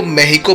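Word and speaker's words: México: मेक्सिको में भी काफी लोग अपनी कंट्री को मेहिको बोलते हैं, क्योंकि यही उनके देश की प्रोनाउंसिएशन है।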